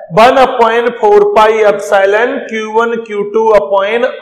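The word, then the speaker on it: epsilon: माध्यम है तो फॉर्मूला बनता है 1/4 पाई एप्सिलॉन Q1 Q2 अपॉन R square.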